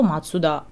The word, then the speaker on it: Mazda: Вот, но как марка, она официально катаканы записывается, что Honda, что Matsuda. Matsuda – это Mazda, по-английски через Z мы ее пишем, но вообще это тоже Matsuda.